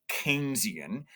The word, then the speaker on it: Keynesian: It's pronounced Keynesian, right?